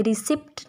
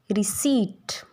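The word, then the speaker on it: receipt: जब भी पी के बाद टी आएगा तो ये साइलेंट हो जाएगा। एज इट इज़ इन रिसीट, ये रिसिप्ट नहीं होता, रिसीट।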